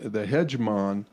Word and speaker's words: Hedgemon: The hegemon is, am I pronouncing that correctly?